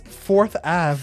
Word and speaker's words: Forthave: Do you put the T and the H together? I think it's meant to be fourth a is forth a. It's fourth a but they made it fancy.